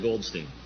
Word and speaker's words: Goldstein: I pronounce it Goldstein.